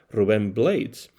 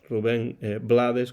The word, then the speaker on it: Blades: muy popular Rubén Blades, que algunos pronuncian Rubén Blades. Pues sí, ya colaboraba Rubén Blades con el grupo fundado por Jerry González con su hermano Andy.